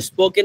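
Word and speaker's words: spoken: বলি সেটা হচ্ছে যে এস এর পরে যদি আপনি পন তাহলে পর উচ্চারণ কখনো ফ হয় না পই থাকে তাহলে স্পোকেন ইংলিশ আমরা কখনো ভুলেও স্পোকেন ইংলিশ স্পোকেন ইংলিশ বুঝাতে পেরেছি আমরা একইভাবে আমরা যখন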